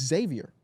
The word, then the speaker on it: Xavier: call him Xavier it's Xavier Xavier you don't pronounce the ex but the kid and